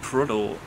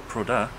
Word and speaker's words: Prudhoe: we are at Prudhoe, or Prudhoe, depending on who you are, how you pronounce that, castle today. I say Prudhoe, Caroline says Prudhoe.